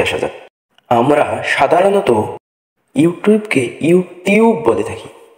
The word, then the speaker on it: YouTube: আমরা সাধারণত ইউটিউবকে ইউটিউব বলে থাকি। ইউটিউব আসলে ইউটিউব না। ব্রিটিশরা এখানে উচ্চারণ করে ইউটিউব। ইউটিউব টিউকে CHU চু চু উচ্চারণ করে চু। যেমন ফার্নিচার, পিকচার, ফিউচার।